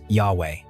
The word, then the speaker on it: Yahweh: Today, it is commonly pronounced as Yahweh.